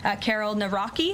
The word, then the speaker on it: Karol Nawrocki: He met with Karol Nawrocki, if I'm pronouncing that correctly.